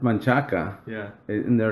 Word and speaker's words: Manchaca: I hate the way people pronounce shit in Austin, like Manchac. Oh yeah. It's Manchaca.